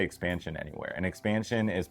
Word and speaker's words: Xpansion: And if you don't know what I'm talking about when I say expansion, it's spelled X P A N S I O N.